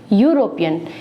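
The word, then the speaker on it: European: उसके बाद से यहाँ ई है, यहाँ पर भी इसका उच्चारण है यूरोपियन।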